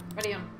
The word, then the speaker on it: Marianne: So her name is Marianne, but it's pronounced a little bit differently. Marianne.